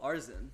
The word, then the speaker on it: Arizin: Oh, Arzin. Arzin, is that what? I think there's an I there. Yeah, but you don't pronounce it.